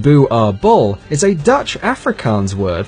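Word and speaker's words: Boerboel: prey these dogs are illegal in Norway Louisville pronounced Dewar bull is a Dutch Afrikaans word for farmers dog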